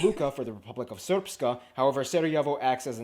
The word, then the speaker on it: Srpska: And the Republika Srpska. I know it looks like it's pronounced Srpska.